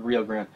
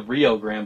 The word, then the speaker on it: Rio Grande: But they actually say not the Rio Grande, but the Rio Grande.